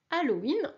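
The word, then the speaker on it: ハロウィン: tout simplement le mot Halloween en japonais alors je te rappelle attention qu'on prononce tous les h en japonais c'est très important donc il faut expirer le H et on entend le son halloween halloween halloween évidemment halloween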